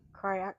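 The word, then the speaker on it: craic: So, then we have I think it's pronounced kryak, so don't shoot me.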